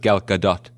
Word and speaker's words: Gal Gadot: perhaps with a golden lasso of truth, extricate Gal Gadot. By the way, it's pronounced Gal Gadot.